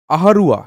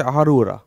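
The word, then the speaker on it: Ahraura: আচ্ছা, আহারুয়া, ঠিক আছে, সরি এটা আহারুয়া না, আহারৌ, ঠিক আছে, আহারুরা, এটা মনে রাখবে, আহারৌরা, আহারৌরা ইনস্ক্রিপশন, ইট হ্যাজ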